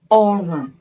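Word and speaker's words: ọrùn: Again depending on the tonal marks on each word. If it is written this way then it is pronounced orum.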